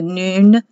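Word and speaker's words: נון: here's the noon spelled n-u-n but it's pronounced noon and it's the soft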